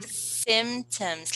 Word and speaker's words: symptoms: pronounce it symptoms okay you can drop the P sound if you like you simply say your symptoms like this symptoms symptoms yes you're right